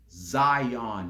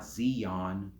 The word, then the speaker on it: Zion: three assists yeah flight it's Zion not Zeon even Mike Henry know